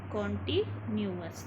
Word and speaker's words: continuous: ठीक है, इसको बोलते हैं हम कॉन्टीन्यूअस. देखो इसकी स्पेलिंग भी थोड़ी सी बड़ी है, लेकिन हम इसको इस तरीके से लर्न करेंगे. देखो कॉन्टी और न्यूअस इस तरीके से, तो प्रेजेंट कॉन्टीन्यूअस टेंस.